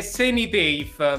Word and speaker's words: Senitafe: com'è la pronuncia corretta? È Senitafe.